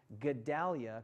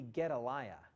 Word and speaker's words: Gedaliah: In fact, I love Brian, and his sermon was great, but I'm not so sure he was pronouncing Gedalia correctly. I think it would be Gedaliah.